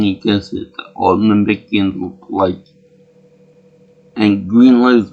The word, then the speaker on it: Namekian: And I like the way Krillin, even though he knows that Namekian, he pronounces it Namex. He said more Namex. I'm sure it's proper English, but it just sounds wrong. You're supposed to Namekians, or the insult to the race.